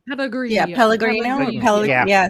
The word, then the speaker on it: Pellegrino: Pellegro? Pellegrino. Yeah, Pellegrino. Yeah. Yeah, say that. You say it better. Pellegrino. You gotta There say it like an Italian.